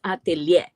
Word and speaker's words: atelier: So atelier is a word Atelier. in French that Mm. ends up is ATEIR, right? But the R is not pronounced, so it's atelier.